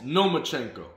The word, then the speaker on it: Lomachenko: lomachenko's name again and Devin Haney said no you're saying it wrong it's no machenko so he's even in